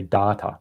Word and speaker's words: data: find that, and yeah, I know people love the way I say data. That's how we pronounce it in Australia, data.